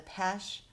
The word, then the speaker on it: Paasche: I had never heard about the Paasche Air Eraser.